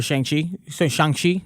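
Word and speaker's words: Shang-Chi: for when um like for shanxi that's how you properly pronounce it i don't wanna be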